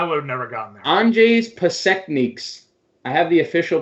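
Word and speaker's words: Anžejs Pasečņiks: I have the pronunciation here in front of me. It's the Washington guy? Andrzej Pasekniks. That's his name. But he played that because I would have never gotten there. Andrzej Pasekniks.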